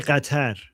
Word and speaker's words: Qatar: We say Qatar. Yeah, it's pronounced Qatar.